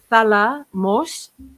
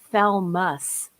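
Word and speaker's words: θάλαμος: uh calls the uh thala moss the thalamus yeah salamos is spelled theta alpha lambda alpha me omicron sigma and it means chamber so it's not the thalmas it's the thalamos and counselor troy is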